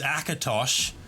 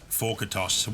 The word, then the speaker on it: Akatosh: Originally, it was Akatosh, but I used the 4 because the A was taken already, but now everyone pronounces it Forkatosh, which is totally fine.